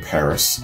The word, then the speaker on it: PVRIS: our third uh i'm assuming group that being paris p-v-r-i-s it's spell doing st patrick paris